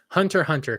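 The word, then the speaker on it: Hunter x Hunter: judging this stuff on Hunter Hunter because it it this is an anime thing I know there's an X there the x is silent putting in a detour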